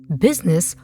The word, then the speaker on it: business: Business of serving others first. When we carefully look at the word business, we notice that the U comes before the I. We also notice that the I is silent.